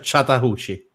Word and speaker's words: Chattahoochee: Allora, si dice, se posso se posso, Michele, si pronuncia Chatta- si pronuncia Chattahoochee.